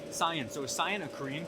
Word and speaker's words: Scion: Is it Cien or Scion? It's SciEN. Scion.